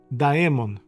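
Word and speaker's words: daemon: Eu não não encontrei um paralelo na em português, mas esse demon é d A e m o N. Daon. Embora você pronuncie idêntico a demon de E.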